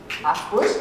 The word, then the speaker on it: Harfouche: Harfouche, yeah, I pronounce him well.